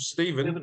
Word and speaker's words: Stephan: It's Stephan or Stefan. How do you say your name properly? I thought it was Stefan always. I call myself Stephen, translated Stephen. to Australian.